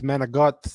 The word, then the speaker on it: manicotti: then the manicotti, it's manigot, and it's just like the Manigot, Sopranos. yeah. It's exactly how my family pronounces it.